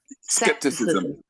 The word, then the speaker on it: skepticism: know the word but I'm pronouncing skepticism skepticism so C for a k SE okay people being